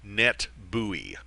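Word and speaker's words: NetBEUI: extended user interface and we pronounce that abbreviation net buoy net buoy is the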